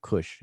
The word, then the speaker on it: Kush: You see the word Kush right here. You see this glyph here, this glyph here. Without me going into detail about it, this word spells the word Kash, but we pronounce it as Kush.